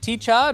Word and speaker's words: T-Chod: Yeah, but it's T-Chod, like CH odd.